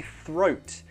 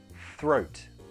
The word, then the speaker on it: throat: takes us to the throat I know this is a difficult word to pronounce so let's practice throat throat first get the sound then bring your tongue down and back for the throat throat in faster throat